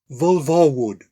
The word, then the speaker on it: Vulverwood: It's pronounced Vulvarwood.